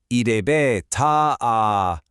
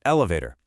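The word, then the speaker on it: エレベーター: Now, in English we have this terrible habit of just butchering the vowels, swallowing the syllables, and just blurting out elevator. But in Japanese Katakana, you absolutely must respect the rhythm. The B gets an extra beat because of the mark, and the ta gets an extra beat.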